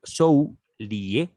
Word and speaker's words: Soulié: Nos dice el traductor Frédéric Soilé, lo vuelvo a repetir, Zhou Lié, con acento en la E, vivió de 1800 a 1847.